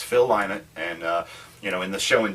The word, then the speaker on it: Phil Lynott: His answer was, "Why not Lynott?" There you go. That's good. He said it all the time. I said, "All right." So it's Phil Lynott, and in the show